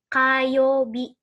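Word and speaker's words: 火曜日: Yaitu kayobi. Kayobi. Kayobi. Gitu ya. Jadi ini dibacanya K. Nah, kanji satu ini dibacanya K. Hari Selasa, kayobi.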